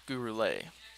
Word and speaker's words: Gurule: the early lead 1-0 but gruel gurule so apologies i've been saying johnny's name wrong it's gurule and he's working from